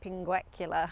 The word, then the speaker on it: pinguecula: and it turned out I've got a pinguecula, I think it's pronounced. I could be wrong about that, but that's from memory what it's called.